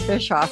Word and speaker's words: Bischoff: my guest today I'm so excited about Bishop how are you wonderful Pat did I pronounce that correctly you got it right all